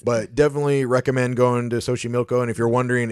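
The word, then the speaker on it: Xochimilco: that was nice but definitely recommend going to sohi Milo and if you're wondering it's spelled x o c h i m i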